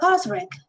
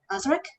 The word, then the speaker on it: Osric: Enter Osric. Is that how you say it? Osric?